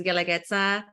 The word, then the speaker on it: Guelaguetza: I know I have the most difficult name, number one, Bricia, to pronounce, and then my restaurant's name is Guelaguetza. No one knows how to pronounce that too.